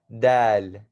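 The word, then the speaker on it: د: For the people who are Desi, Indian, Pakistani, Bangladeshi, or whatever you may be, this is not dal, like dal chawal.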